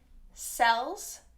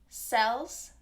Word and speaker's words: cells: cells and shells shells note the ending on cells and shells is actually a z sounds which is voiced z sells shells that's me overemphasizing it'll be a little softer cells shells so it's almost kind of a mix between a z and an s when it's at the end like that okay so let's look